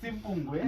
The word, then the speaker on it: Simpungwe: Simple Kolwe. Simple So it's Simpungwe. Yeah. Not simple.